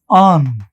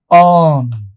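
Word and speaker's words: urn: इसका उच्चारण होता है ऑन। ऐसे समझ सकते हो आप। मैंने बहुत सही तो नहीं लिखा है हिंदी में बट एग्जैक्टली ऐसा हो सकता है। इसका अगर हम फनेटिक ट्रांसक्रिप्शन देखें तो इसको ऐसे बोलते हैं। ऑन।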